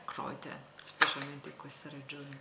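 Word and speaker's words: Kräuter: a base di erbbe in tedesco si dice croit scritto crouter con i due puntini sulla A e la pronuncia è croite specialmente in questa regione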